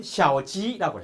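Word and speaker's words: 小鸡: 병아리는 샤오지라고 해요. 중국말로. 지는 길할 길자하고 발음이 비슷해요.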